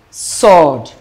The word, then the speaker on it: sword: the answer is B sword sword and mind you the W is silent sword so it has the same pronunciation with s u r d sword he bought out